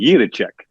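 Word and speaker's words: Jiříček: Now, if you really want to say it like a Czech, okay, it would be Juracek. Like you kind of roll that R a little bit.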